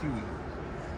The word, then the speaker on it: Huey: was a uh1 age people just like pronounce that as Huey so it was a